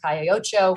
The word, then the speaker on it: Calle Ocho: The owners of Ball and Chain also own another establishment called Taquerias El Mexicano, which is also a long-standing establishment on Calle Ocho. She pronounced that right, didn't she?